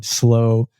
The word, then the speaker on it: Slo: button on the record I said How's it pronounced and you said slow but you said other people pronounce it some